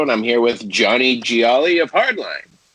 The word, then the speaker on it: Gioeli: i'm here with johnny gialli of hardline did i pronounce the last name right jolly pretty good geo elite g-o-l bro it's like a pasta dish it's like if you